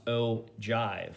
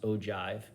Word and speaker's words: ogive: and by the way this is pronounced o jive like o and then jive that's how it's pronounced but it's spelled with a g pronounced ogive spelled with a g